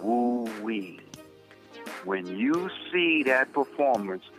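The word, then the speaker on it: wu wei: What pops out your, remember I said the name, the dynamic that's spelled W-U-W-E-I is called woo-wee.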